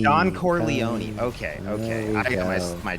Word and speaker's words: Corleone: not I have never seen The Godfather okay Don coron Don Corleone okay okay I got my tongue twisted oh